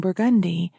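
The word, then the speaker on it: Burgundy: As she approached along Burgundi, she had difficulty with directions due to the unusual New Orleans pronunciation with an accent on the second syllable.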